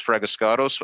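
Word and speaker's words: Fragiskatos: It's Fraguscato.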